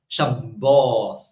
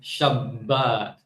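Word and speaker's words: שבת: And then the bit, because of the dot inside, which is the dagesh, right? They pronounce it with a doubling, right?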